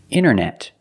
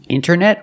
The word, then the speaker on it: internet: You have NT in the middle, the T is silent. Other examples, internet. Internet or internet.